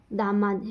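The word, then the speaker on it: DMARD: एक तो होता है दामाद डी एम ए आर डी। ठीक है? आर को थोड़ा साइलेंट रखना है।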